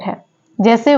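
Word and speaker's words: hedge: डी है वो silent है जैसे वर्ड है हेज तो हेज में जो डी है वो साइलेंट है नेक्स्ट वर्ड है बेज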